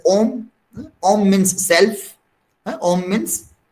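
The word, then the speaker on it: homme: Homelet is made up of two words: home, H-O-M-M-E, H-O-M-M-E, home, which is pronounced as om.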